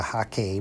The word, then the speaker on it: hake: You can easily use the hake brush, the goat hair, the hake brush, as it's correctly pronounced.